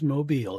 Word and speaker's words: Mobile: So, it's not something that moves. It's something that hangs down above a baby crib.